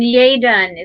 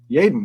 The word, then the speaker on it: Yaden: And Yaden is how he pronounces his name. Yaden.